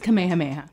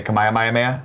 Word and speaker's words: Kamehameha: for the press pet it's just kamehameha thank you what did I say come I am Iron Man I put too many syllables and look come in